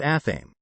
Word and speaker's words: athame: are black handled knives called athame sparrow says this so it rhymes with whammy she shows me photos